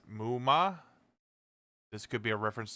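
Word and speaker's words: 夢魔: The Japanese used MMA, pronounced Muma.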